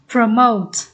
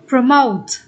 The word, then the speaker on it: promote: Câu B mình sẽ đọc là promote, cũng nhấn âm 2 luôn.